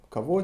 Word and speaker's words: кого: Кого, чего. Кого, чего. Written кого or чего, pronounced кого, чего.